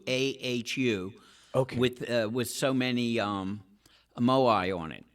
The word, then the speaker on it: Moai: Is that how you pronounce it, Dennis? Moai.